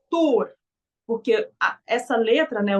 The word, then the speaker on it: Thor: falou no grupo que a pronúncia correta do nome de Thor era poror aí eu falei que não que ele tava equivocado que era tor porque a essa letra